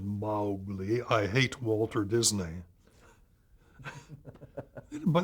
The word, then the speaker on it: Mowgli: Jungle Book I said how do you pronounce mo w GLI she said Molly I hate Walter Disney